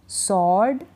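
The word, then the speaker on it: sword: शुरुआत कर रहे हैं अगला क्या है कि डब्लू का उच्चारण नहीं होता जैसे कि यहां है ना ये स्पेलिंग है इनमें डब्लू का उच्चारण नहीं होता आंसर सर्ड टू यहां पर डब्लू का उच्चारण नहीं हो रहा है आप इन स्पेलिंग्स को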